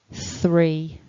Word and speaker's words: three: is number three um you need to put your tongue between your teeth to make the th